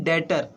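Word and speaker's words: debt: doctor नहीं हुआ यह बैटर बीच रहता है इसमें साइलेंट ठीक है बे साइलेंट रहता है इसे बैटर ही बोलते हैं तुम लोग मतलब शुरुआत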